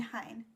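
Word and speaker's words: Heian: Chinese influence reach its peak and decline the hin period that's spelled h e i a n where was the capital located then um in hine present day Koto what family in the hen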